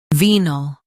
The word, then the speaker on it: venal: Today we will learn how to pronounce the word shown on the screen, VENAL.